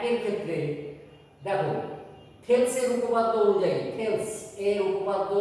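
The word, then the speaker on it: Thales: 1 এর ক্ষেত্রে দেখো থেলসের উপপাদ্য অনুযায়ী, থেলস এর উপপাদ্য অনুযায়ী তোমাদের বইতে এটা থ্যালেস বলে বাংলাটা লেখা আছে, কিন্তু এখন উচ্চারণটা কিন্তু থেলস হবে। ওকে, উচ্চারণটা কিন্তু থ্যালেস হবে না, উচ্চারণটা থেলস হবে, ঠিক আছে?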